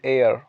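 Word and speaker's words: heir: N honourable man, एन एयर, एयर का मतलब होता है उत्तराधिकारी, हेयर नहीं कहते, एन एयर।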